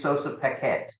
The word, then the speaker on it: Sossa-Paquette: the second congressional district of that state Sosa Paquette and am I pronouncing that properly you pronounced that perfectly fantastic